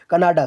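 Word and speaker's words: Kannada: Official language भाई यहाँ की कांडा है, ठीक है, कनाडा, सॉरी कांडा नहीं तो कनाडा है, ठीक है। आप जरूर प्रोनाउंसिएशन भी यहाँ पे ध्यान में रखिएगा, कनाडा, ठीक है।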